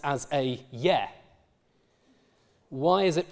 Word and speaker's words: ge: The g becomes a y when there is a certain kind of vowel after it. So in Old English, this prefix, though it's written as a ge, is pronounced as a ye.